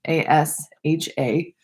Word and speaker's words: ASHA: It's the American Speech and Language Hearing Association, ASHA. I know there's language in there, but the L is silent. So it's ASHA.